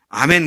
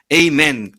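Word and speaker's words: Amen: 끝에 가서 아멘 그러잖아요. 영어식 발음은 에이멘입니다. 영어식 미국식 발음은요. 에이멘.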